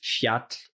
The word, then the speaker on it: fjall: The J is like a Y. So again, the word for mountain, fjall is FJ, fjall, double L, TL.